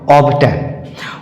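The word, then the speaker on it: obtain: होते हैं जहां पर बी के बाद टी आने पर बी का उच्चारण किया जाता है लाइक ऑन ऑब्टेन ऑब्टेन उसी तरह से बैक्ट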